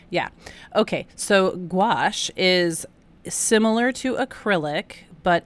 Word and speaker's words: gouache: going, "Mom, it's pronounced gouache." And I go, "Oh, okay." Like rhymes with squash. Yeah. Okay. So gouache is similar to acrylic, but it is water activated.